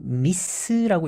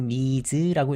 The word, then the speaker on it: Ms.: 그리고 요 미스라고 읽으면 안 되고 미즈라고 읽는 것이 정확한 발음입니다.